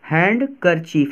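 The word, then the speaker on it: handkerchief: इसका उच्चारण गलत मत करना। ठीक है? हैंड कर चीफ है पूरा। सही है। 100% सही है। ठीक है? कुछ भी साइलेंस नहीं होने वाला।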